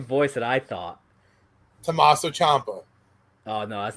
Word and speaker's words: Ciampa: shots, but I mean, if it's Ciampa, or Ciampa is actually how you pronounce his name.